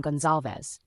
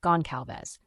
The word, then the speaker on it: Gonzales: episodes pronouncing the name we've always pronounced the name Gonzales despite others pronouncing it goncales but you know that